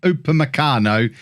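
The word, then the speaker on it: Upamecano: it uppercommando i don't think i have uppercum upamakano and of course declan rice can drop back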